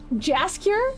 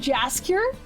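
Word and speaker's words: Jaskier: know what i'm doing probably pronounce the j in just jasker they would have said jazz cure that's even worse oh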